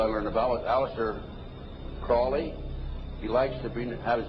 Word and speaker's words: Crowley: learned about with Alistair Crawley he likes to have his name pronounced Crowley to rhyme with holy and the satanists today